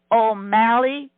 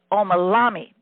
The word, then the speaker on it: Omalami: We inducted 2 very excited, capable, willing, honorary members into our sorority, Elizabeth O'Malley and Congresswoman Donna Edwards. And let me pronounce that. That's Omalami.